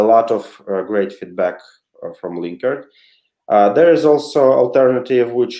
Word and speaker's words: Linkerd: Ya, ok, para los que querían un poquito en español la respuesta, Sergey, es Link ERD, right? Linkerd. Linkerd, yes.